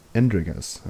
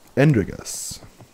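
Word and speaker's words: Endregas: Andregas, okay. That's how you pronounce it. Andregas.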